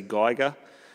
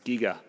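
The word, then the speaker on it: Giger: I used to say Geiger and she enlightened me that it was actually pronounced Giga so ever since then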